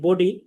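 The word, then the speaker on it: ب: আমরা ব, ব এভাবে বলবো না, আমরা বলবো বা, বা, মুখ স্বাভাবিক রেখে।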